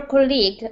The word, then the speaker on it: colleague: I spoke to your colleague, Anna. She was able to help me. Is it colleague or colleague? Colleague. Yeah, first syllable. Colleague. Colleague. Well, I'm American, so I say colleague in my accent.